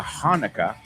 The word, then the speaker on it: Hanukkah: Also, my friends, my Jewish friends, mis amigos judíos, that celebrate Hanukkah, aunque se escribe con CH, se pronuncia Hanukkah, they get 8 days of presents.